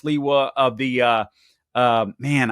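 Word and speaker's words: Sliwa: I believe it's pronounced Leewa of the uh um man, I I forget what are the name of the people with the red hats.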